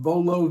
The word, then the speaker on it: Vuolo: The website is called Vololo Video. And for those of you who want to write this down, it's V U L O. So, there's a U after the V, but you don't pronounce it.